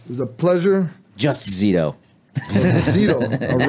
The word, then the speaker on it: Zito: How do you pronounce it? Palomo. Palomo and Zito. It was a pleasure. Just Zito.